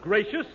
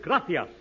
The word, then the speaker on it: gracias: okay muchas gracias amigo no no no not gracious that word is gracias you see in Spanish the see is pronounced th krithia you see th your mind